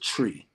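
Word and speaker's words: Twi: it's it's pronounced it's spelled t-w-i but it's pronounced tree so that's the the language that they speak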